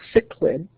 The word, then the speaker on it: cichlid: So the pronunciation of the fish is called cichlid.